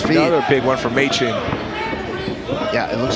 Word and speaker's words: Machen: So he did tell it's Machen, like the month.